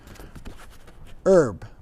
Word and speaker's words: herb: favorite words this is herb you don't pronounce the h if you're in america if you're in britain you pronounce the h herbs but it's herbs